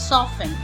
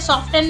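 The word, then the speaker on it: soften: हमारा T silent कुछ शब्द है जिनमें टी साइलेंट रहता हैसल एसन लिसन लिसन ऑफेन ऑफेन सॉफेन सॉफेन इन्हें सॉफ्टेन नहीं पढ़ेंगे आप सॉफ्टेन कैसल कैसल विसल विसल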